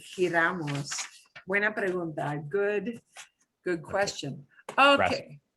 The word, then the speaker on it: giramos: Which Giramos, to turn. Oh, the giramos? Yes, yeah, that's that G. How is that G pronounced? Oh, okay. Giramos. The G will say, yeah, G-E-G-I sounds like the throaty J.